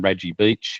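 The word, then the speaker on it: Radji Beach: So I've put down as one of them on Raji Beach. Is that the correct pronunciation?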